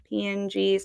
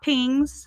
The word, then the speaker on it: PNG: And I'm going to look for JPGs, JPEGs, um, PNGs, not pings, PNGs.